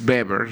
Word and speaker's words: Weber: por Max Weber, eh Max Weber realmente es la pronunciación, eh habla de que